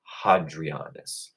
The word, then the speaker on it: Hadrianus: But I like to pronounce the H, so I'll call him Hadrianus.